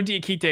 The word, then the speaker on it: Diakite: and dad d akitay i know d akitay is how you say his last name i don't ask okay